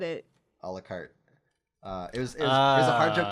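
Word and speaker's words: à la carte: Do you say a la carte? Or A la carte. It's a la carte. Okay, The E is silent. It's like French, I hate French. which means all of the letters are silent.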